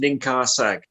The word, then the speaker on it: Ninkharsag: Pronounced Ninkharsag.